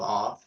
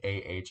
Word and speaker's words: Awe: oh, AWE. I was like AH.